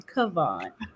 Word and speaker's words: Kavon: And let me just say, as a queen, I would like to ask that you pronounce my name Kavon.